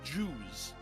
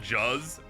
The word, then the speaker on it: Juzz: I'm going to assume it is meant to be pronounced as Jews. And not Juzz? Bart's mispronunciation of the word jazz from the episode Jazzy and the Pussycats. So it would be Juzz.